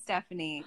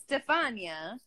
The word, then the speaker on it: Stefania: people butcher your name i could see people saying stephanie because they just stupid then say it but what they don't know how to like it's stefania i know it is